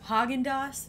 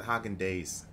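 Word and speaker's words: Häagen-Dazs: really is that high i used to pronounce it Hocking days oh I think you're wrong is your refrigerator running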